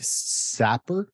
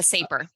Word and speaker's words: Saper: You co-authored an article with Jake Sapper, I think if I'm pronouncing his name correctly, Yeah, uh, Saper.